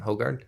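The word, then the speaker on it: Hougaard: Hoggard. How Yeah. Hogard.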